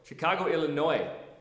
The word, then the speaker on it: Illinois: The business of fitness tip is come to MegaFit in Chicago, Illinois. The S is silent on the end of Illinois.